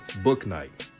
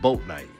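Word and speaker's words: Bouknight: shout out to uh book night not book night but boat night i'm getting used to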